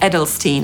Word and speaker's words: Edelstein: Podsumowując, nazwy własne, które mają w pisowni końcówkę „-stein”, przeczytamy po angielsku najczęściej przez /staɪn/, np. Einstein /ˈaɪnstaɪn/, Frankenstein /ˈfræŋkənstaɪn/, Liechtenstein /ˈlɪktənstaɪn/. Ale może się też zdarzyć, że wymawiamy tę końcówkę jako /stiːn/, np. Weinstein /ˈwaɪnstiːn/ albo Edelstein /ˈedəlstiːn/.